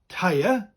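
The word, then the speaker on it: teiar: T-E-I-A-R, and it's spelled the same way as in English, but with a rolling R.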